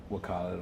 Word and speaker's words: Khaled: I don't know if I pronounced his name right. Did I say that right? Khaled.